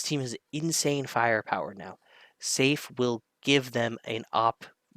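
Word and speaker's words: saffee: ultimately honey's out and safe pronounced or spelled safy but pronounce safe is it safe is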